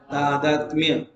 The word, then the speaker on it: तादात्म्य: है, तो शब्द सुनो, तादात्म्य शब्द का उच्चारण क्या होगा? तादात्म्य। तत् आत्मा इति मन्यते, उसको बोलते हैं तादात्म्य।